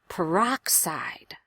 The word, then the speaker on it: peroxide: great word for rhythm really sit on the strongest syllable make that aa vowel louder and longer peroxide peroxide that's too much